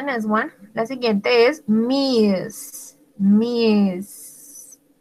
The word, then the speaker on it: Ms.: La siguiente es Miss. Miss. Como una Z al final.